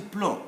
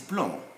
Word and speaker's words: plomb: We come to plomb, B. We come now to B. This is plomb. We write B, we don't pronounce it.